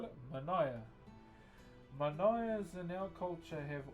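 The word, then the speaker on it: Manaia: M-A-N-A-I-A is how you spell it. Manaya.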